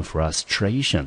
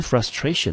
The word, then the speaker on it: frustration: couldn't，他没有办法 learn to play the piano well，没有办法呢把钢琴弹好学好，所以他感到很沮丧。好，那么最后呢我们再看另外一个此类，那个就是它的名词，这个名词呢我们念成 frustration。好，那这时候要特别注意到了 frustration 啊，因为 frustration 呢这个 T-I-O-N 结尾 T-I-O-N 结尾的，所以呢它的重音呢要落在 tion 前面的那个音节，所以这个字呢我们念成 frustration。Frustration，那 frustration 呢？它是一个名词，注意哦，是个不可数的名词，中文翻成沮丧。来，我们看例句：Fred felt deep frustration because he didn't get into his dream college.